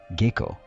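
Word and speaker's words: Gekko: El significado de este kanji es luz de luna, que en japonés también se puede pronunciar como geko.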